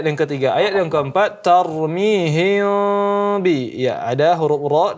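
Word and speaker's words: ترميهم: sini ikhfa syafawi ya, maka dijelaskan dengungnya tarmihim bi. Ya, cara bacanya ada 2 dengan membuka sedikit bibir tarmihim bi atau menutup sehingga berbentuk seperti huruf mim.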